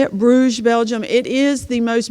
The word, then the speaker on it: Bruges: was really neat next slide please this is Bruges that's how you say it Bruges Belgium it is the most beautiful city we